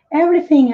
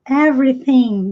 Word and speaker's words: everything: excelente cresce joy disse everything a sílaba mais forte no começo sim everything joia eu começo que